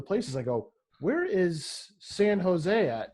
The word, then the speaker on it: San Jose: this s-a-n space j-o-s-c s-a-s-a-n-j so j-o-s-e yeah san jose no when i first moved down here i